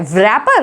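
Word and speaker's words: wrapper: Next word देखिए, ये क्या लिखा हुआ है, रैपर, इसको रैपर बोलेंगे, नहीं, इसमें डब्ल्यू साइलेंट है, इसको बोलेंगे रैपर। लिखते ये हैं, डब्ल्यू से स्टार्ट होती है इसकी स्पेलिंग, लेकिन प्रोनाउंस क्या किया जाता है, रैपर।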